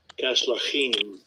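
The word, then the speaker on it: Casluhim: said that, and then let's see how to pronounce this one. Who became the Philistines? Caslukim. Strong's H 3695. Kaslachim.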